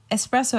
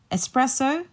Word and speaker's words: espresso: when you're thinking about espresso like take out the X and just remember it's pressed so you put the